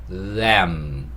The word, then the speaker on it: lamb: 한번 연습해 보겠습니다 lam l은요 r과는 발음이 달라요 일단은 발음부터 좀 보여드릴게요 r은요 혀를 안으로 말았습니다 l은요 혀가 윗니 뒤에 붙어야 돼요 그래서 ll 혀가 이게 윗니면 혀가 붙어야 됩니다 이렇게 붙어야 돼요 그래서이 단어도 램 램 이렇게 하는 겁니다 r이었을 때는